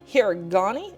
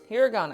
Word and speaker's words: hiragana: actually say it right herani is that what you said hirana hirana okay hiragana I'm taking that as the absolute truth that that's how you say that and then another five